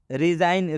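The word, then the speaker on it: resign: आया है next रिजाइन रिजाइन रिजाइन में भी जी के बाद एन आया है मतलब जी का उच्चारण नहीं करना है इस्तीफा देना कैंपेन कैंपेन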